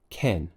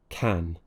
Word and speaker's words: can: issue here is that they're lifting their tongue a little bit off the bottom of their mouth and it's sounding more like an e then what happens is it sounds like Ken for a word like man it might sound like men for a word like band it might sound like Bend keep that tongue pushed down keep the mouth nice and open with a slight smile on the lips ah can we finish